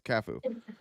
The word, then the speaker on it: Cafu: Are you pronouncing that right? Well, yeah, I know soccer pronunciations. It's Cafu.